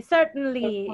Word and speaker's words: certainly: her certainly please certainly certainly it's like certainly like like when you say mountain is this this the same pronunciation certainly certainly that letter t is not that strong okay but look